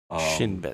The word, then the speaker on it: Shin Bet: I'm pronouncing that right. That's 2 words. Shin and Bet. Shin Bet.